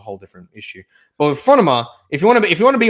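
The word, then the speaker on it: φρόνημα: Greek and all that, then say it properly. Say phronema, not phronema or not phronema or phronema. It's phronema. There's Greek. Do the right pronunciation if you're going to be so autistic about that.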